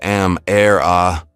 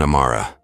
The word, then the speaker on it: Amara: "I-O and Am-Er-Ah." She butchered their names without apology. "It's Ayo and Amara," Amara corrected politely, the cadence of her voice musical despite the tension in her shoulders.